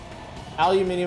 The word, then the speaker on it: aluminium: Aluminium is how the English pronounce it, so I assume it's wrong. Whoa, just them explode? That ruled. kind of gross looking. Aluminum.